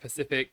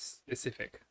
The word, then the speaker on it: specific: oneu and they're like Pacific Pacific and I was like it's specific got pronounce the yes a little bit on that one specific first specific first